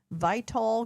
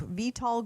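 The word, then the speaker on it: Vitol: Vital group, VTOL group actually is how you say it and Trafigura were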